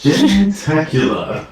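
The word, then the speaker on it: jentacular: Yes, gentacular.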